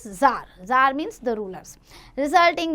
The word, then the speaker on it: Tsar: Sometime we write CZAR and sometime in few books you will find TSAR. But the pronunciation is Tsar.